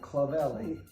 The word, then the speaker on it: Clavelli: And it's Clavelli, Clavelli. Yeah, that was pretty easy to pronounce.